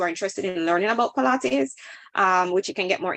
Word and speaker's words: Pilates: Oh, now you pronounce it right. Yes, Pilates.